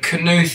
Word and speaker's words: Knuth: been better if it if it was a silent k I don't know but um uh yeah I imagine you get to hear your name pronounced a bunch of different ways too I do I do but canth is like what it always was that's how your father